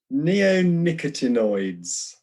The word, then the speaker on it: neonicotinoids: Neonicotinoids.